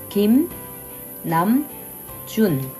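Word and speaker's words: 김남준: and for June we'll use pattern number five Kim Nam June June none June kim nam june kim nam june kim namjoon now all right Kim the first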